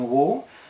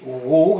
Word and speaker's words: Waugh: bien un homme et euros il disait lui-même de prononcer son nom w à uré h comme un léger aboiement était ce bien nécessaire